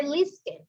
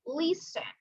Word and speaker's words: listen: The C and the letter T are silent. Sometimes, like sing and listen. We do not pronounce, we don't say listen, we say listen. So the letter T is silent.